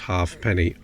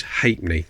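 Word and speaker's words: ha'penny: what I mean is it was never pronounced half penny always hate me okay King George VI 1937.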